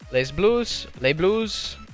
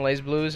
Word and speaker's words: Les Blues: Pool F, number 6 of 8, Unilad, Team Envious, Les Blues, however they pronounce it, because the S is silent apparently, and then Mentality Esports.